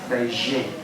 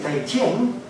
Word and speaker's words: Beijing: in the correct way they're not over exoticizing the J it's just a j a j uh so